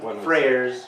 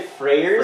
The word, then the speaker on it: friar: In American English, we pronounce it friar.